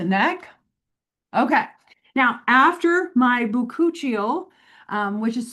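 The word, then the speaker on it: bakuchiol: Now, after my buuchial, um, which is spelled B A K U C H I O L.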